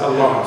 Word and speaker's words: Allah: The way he pronounced it is Allah. He pronounced it Allah.